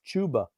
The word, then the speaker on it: Chuba: they call his he i think it's pronounced chuba hubbard whenever you hear they call him chuba and i'm just saying